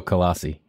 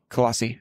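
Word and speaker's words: Colossae: the church in colassi how do you say colassi just like you did coli or col col I go colassi colassi okay yeah I hit the a this that colassi yeah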